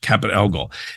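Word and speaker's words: Caput Algol: which is known as capit ELO now some people pronounce that differently but the ancient method was capit ELO now modern astrologers or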